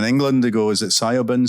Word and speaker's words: Siobhan: many of the books she gets called Shiv, to give you an idea of that might be the pronunciation.